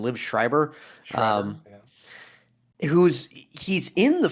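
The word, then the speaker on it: Liev Schreiber: Liv Schreiber.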